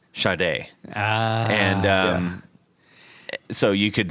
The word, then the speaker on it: Sade: it's so it's every everybody was like oh Sade right and she actually they had to put things on like the records and everything that said pronounced shade and um so you